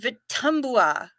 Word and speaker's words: Vitumbua: Pronounced Vitumbua. Had a Tanzanian home health worker who loved to spoil me.